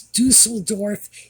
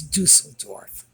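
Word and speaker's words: Düsseldorf: Dusseldorf, by the way, a lot of people are pronouncing that Dusseldorf. No, it's Dusseldorf. If you want the pronunciation, go online and get the pronunciation from a German speaker. It's Dusseldorf.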